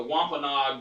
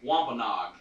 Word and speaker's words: Wampanoag: just a uh just a second but the wampanoag native americans say it again wampanoag say it one more time wampanoag nice i'm considered want this so here we